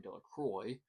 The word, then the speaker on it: Delroy: Bobby and Harry Jones and Dicky Delroy, the villagers pronounced his name Del Croy, eventually made a great